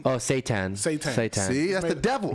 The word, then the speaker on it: seitan: Satan. Oh, seitan.